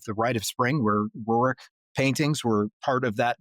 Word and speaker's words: Roerich: a Russian mystic by the name of Nicholas Roerich, or sometimes it's pronounced Roerich.